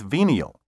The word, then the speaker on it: venial: 14 of level 9 be careful not to get venal confused with venial venal spelled v-e-n-a-l means corruptable capable of being bribed or bought off venial spelled v-e-n-i-a-a word 16 risible r-i-s-i-b-l-e